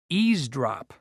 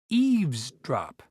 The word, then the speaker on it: eavesdrop: drop is an interesting word although many people mispronounce it as EAS drop it's Eaves drop not EAS drop to Eaves drop means to